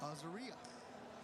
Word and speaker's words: Azaria: And I was told that's how we say her name. It's spelled Azaria. Hey, he just left. But they want us to say Azaria.